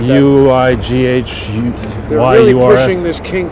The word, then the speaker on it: Uyghurs: It's not spelled the way I'm pronouncing it, but it's pronounced, I believe, Uyghurs or something like that. Uighurs.